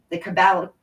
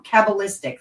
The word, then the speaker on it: Kabbalistic: extensive involvement with freemasonry the cabal i'm saying it wrong kabbalistic there you go kabbalistic order of the